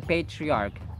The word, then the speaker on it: patriarch: mo na as the patriarch Dr gustav clearly is not going to condone such behavior condone patriarch patriarch it's patriarch it's not patriarch ch is pronounced as k as in archive archive monarchy hierarchy patriarch